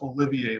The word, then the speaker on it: Olivier: It's Olivier, like Sir Lawrence.